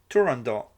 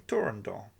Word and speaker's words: Turandot: the final t in Turandot. Soprano Rosa Raisa, said that neither the composer Puccini nor the conductor of the opening performance, Arturo Toscanini, pronounced the final t. Puccini began working on Turandot in March 1920 He